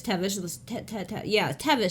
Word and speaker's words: Taibhse: Let's say it's Tevish. Tevish. They'll say, well, spell it. That helps them out. And no, it doesn't, because I don't know if you're familiar. Gaelic, Irish, like some other languages, you start dealing with how things are spelled and the vowels and so forth.